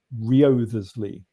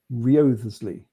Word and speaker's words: Wriothesley: If anyone wants to look at it, it's spelt Wriothesley, Wriothesley. Yeah. But I think the W is silent.